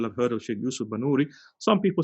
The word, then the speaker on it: Banuri: I'm sure some people have heard of Shaykh Yusuf Banuri. Some people say Binuri, but actually I've looked into this as well. It seems to be the more correct pronunciation is Banuri, not Binuri.